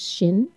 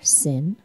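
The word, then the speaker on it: שין: a a r sound Shin can be pronounced Shin or sin and can have either an sh or a s sound and its numerical value is 300.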